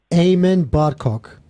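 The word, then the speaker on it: Aymen Barkok: player is gaku shibasaki of Japan midfielder um Eamon barkok who amen barcock Morocco correct how'd you get that no no yeah I thought you were pronouncing it incorrectly like because they were doing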